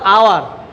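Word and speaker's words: hour: এটা কিন্তু হর্স, এটা কি, এটা হচ্ছে হর্স, আর এটা হলো আওয়ার।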